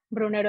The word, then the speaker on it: Brunero: No sé si antes nos habían levantado la mano Brunero, no sé si se pronuncia así. ¿estás por ahí con tu pregunta? Por aquí estoy, Francisco. Sí, pronuncié bien tu apellido. Brunero está bien, perfectamente.